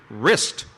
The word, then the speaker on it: wrist: correct your next question what letter is silent in the word wrist Madison the W that is correct the